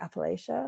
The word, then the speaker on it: Appalachia: But like, you know, I mean, you mentioned that you live in, I want to say Appalachia. Is that how it's pronounced? Yeah.